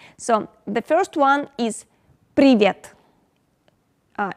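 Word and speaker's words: привет: uh russian phrases so the first one is privet uh it's also pronounced like pre privet it means hello hi hey pre vet then goes kak dilla uh it pronounced like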